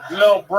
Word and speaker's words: LilBrough: He spells bro with 3 silent letters at the end. Lil Bro.